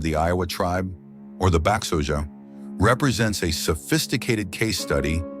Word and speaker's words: Báxoje: The ethnonym Báxoje, pronounced Báxoje, translates most frequently to